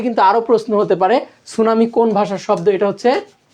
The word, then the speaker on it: সুনামি: এখান থেকে কিন্তু আরও প্রশ্ন হতে পারে, সুনামি কোন ভাষার শব্দ, এটা হচ্ছে জাপানি ভাষার শব্দ, বলে দিয়েছিলাম। সুনামি বানানটাও গুরুত্বপূর্ণ, এস দিয়ে শুরু হয় না, এটা টি দিয়ে শুরু হয়, টি সুনামি হয়।